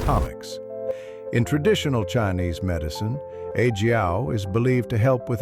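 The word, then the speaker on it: 阿胶: Yijiao, pronounced Yijiao, isn't some new trend.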